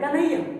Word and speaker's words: कन्हैया: पहले आ रहा है, लेकिन आप उच्चारण करें कन्हैया तो ये जो न है ना ये ह में ही शामिल हो जा रहा है, तो इसकी मात्रा ह में आ गई।